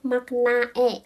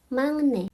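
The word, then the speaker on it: 막내: Contoh di sini dalam bahasa Korea itu ada ini di rumajinya tuh tulisannya makna e makna e. Tapi menurut aturan bacim itu bacanya mangnne mangne itu buktinya aturan bacim itu benar-benar penting banget dalam bahasa Korea.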